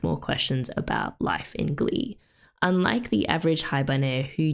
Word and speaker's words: Glie: is pronounced in Japanese Glee sounds incredibly similar to the word for gray in French Glee and appropriately it